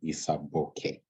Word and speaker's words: Isaboke: for having me and my name is Isa bokeh they said okay nice okay we're good welcome